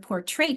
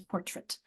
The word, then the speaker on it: portrait: But when you stick the poor on it, because the poor is the strong syllable that gets the accent, it becomes, instead of portrait, it becomes portrait. It's that schwallowed.